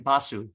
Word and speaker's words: Basu: No, how do you pronounce her last name? Basu.